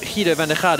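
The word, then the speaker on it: Giedo van der Garde: But or Guido van der Garde, as I think I should actually pronounce it, seeing as we're here in the Netherlands.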